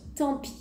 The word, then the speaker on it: tant pis: tant pis tant pis on prononce pas le S à la faire attention tant pis tant pis ça veut